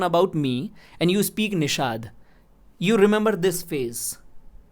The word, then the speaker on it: Nishad: Okay, so you spoke it right, Nishad. Even if you are speaking Nishad or Nishant, any pronunciation of my name, the image in your head is my only, no?